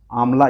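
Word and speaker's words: आंवला: अभी ये न्यूज़ में था, उत्तर प्रदेश में फूलपुर और आमला इसको बोला जाता है। एक बार प्रोनाउंसिएशन आप लोग देख लीजिएगा, आमला बोला जाता है इसको।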